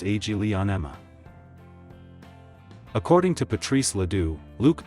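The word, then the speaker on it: Aglaonema: time is called agena in English pronounced AG Leon Emma according to Patrice Leo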